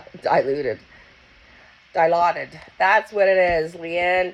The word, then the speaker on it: Dilaudid: I don't even know how to pronounce it. Di- Dilaudid? Dilaudid? Dilaudid? Diluted. Diluted. Diluted. Dilaudid.